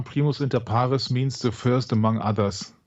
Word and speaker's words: Primus inter pares: sense that he is Primus inparis oh boy more Latin help me out Michael what is that is that did I pronounce that correctly yeah yeah Primos inter parus means the first among